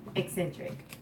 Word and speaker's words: Xsintrik: Thank you for visiting Eccentric. That is the name of this channel. That's how it's pronounced. Eccentric.